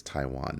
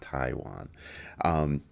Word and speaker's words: Taiwan: I didn't pronounce that part properly. It's Taiwan, not Taiwan.